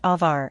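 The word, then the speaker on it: עבר: This word is pronounced avar and it is transliterated as abar, something that is unnecessary if your intention was to help others understand.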